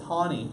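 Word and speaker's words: Taney: right case let's just go is how does Tawney mother it's pronounced toddy 19 II so it's like ta w NE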